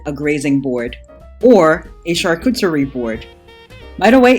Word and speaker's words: charcuterie: may call it a grazing board or a charcuterie board by the way it's french for a store where cooked meat is sold and it's pronounced chakuteri but since there's no meat on here it's